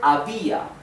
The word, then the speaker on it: había: So these form the same syllable, right? When is it an hiatus? For example, the word había.